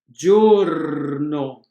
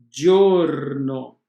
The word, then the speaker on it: giorno: G, com as vogais E e I, o som é de DG. Exemplo, gente, giorno, cugino. Ripetiamo, gente, gente, giorno, giorno, cugino.